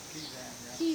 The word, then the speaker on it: Kezan: Kezan, yeah.